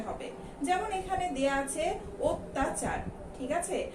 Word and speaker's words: অত্যাচার: যেমন এখানে দেয়া আছে অত্যাচার। ঠিক আছে, আমরা প্রথমেই স্বরেও দিয়ে যদি উচ্চারণ করি তাহলে এটা কিন্তু হয়ে যাবে অত্যাচার, কিন্তু আমরা আসলেই কি অত্যাচার উচ্চারণ করি?